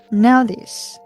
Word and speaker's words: Naudhiz: Naudhiz is need.